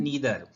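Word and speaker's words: neither: टी एच ई आर नीदर इसको नीदर भी pronounce कर सकते हो और नादर भी प्रोनाउंस कर सकते हो दोनों ही प्रोनंसिएशन इक्वली करेक्ट है और फिर अगला आ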